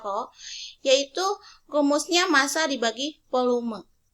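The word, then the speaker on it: rho: jenis atau dilambangkan dengan huruf roll ini yang dibacanya roh yaitu rumusnya massa dibagi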